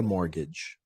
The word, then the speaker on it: mortgage: to take out a mortgage uh this word very important pronunciation let's do this again mortgage mortgage there's no there's no T I think Mort comes from the French to die and that makes sense